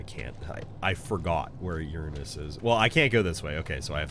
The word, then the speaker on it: Uranus: so I was like I'm going to call it as it actually is Uranus it's the proper pronunciation and I'm all about